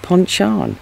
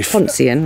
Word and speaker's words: Pontchan: And the place is called Pontchan. Yes. And not Poncian, like I pronounced it.